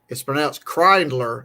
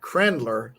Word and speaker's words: Krindler: And it's pronounced Krindler, not Krendler.